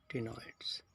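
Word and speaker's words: ctenoid: Formed of cycloid, और या फिर इनको टिनॉइड भी बोल देते हैं। सी साइलेंट है इसमें, टिनॉइड्स।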